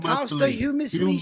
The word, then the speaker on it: posthumously: All that posthumously shit. It's a T in there. Posthumously.